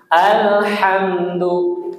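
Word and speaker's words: الحمد: Alhamdu. Alhamdu bukan al salah. Alhamdu alhamdu alhamdu alhamdu.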